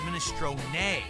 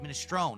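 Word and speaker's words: minestrone: That's the Italian pronunciation. Minestron. Not min, it's minestron. But in American or English, you pronounce it minestone.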